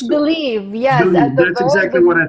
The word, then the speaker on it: Bliive: here today and I never knew how to pronounce it correctly uh it's believed yeah that's exactly what I thought but it's